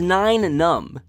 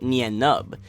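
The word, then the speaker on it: Nien Nunb: the world that the correct pronunciation of his name is Nine Numb. This is something that I definitely need to give myself a badge of shame for. Oh no! I've mispronounced this name my whole life, even correcting people who use the right term. I've always pronounced it Nien Nub, but I've been proven wrong.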